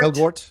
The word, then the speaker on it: Elgort: Elgort, yeah.